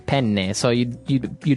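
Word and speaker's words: penne: Italian it would be pen pen so you you you double pronounce the consonant yes what about fuini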